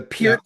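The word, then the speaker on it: Peart: The Pier thing, especially the Pier thing.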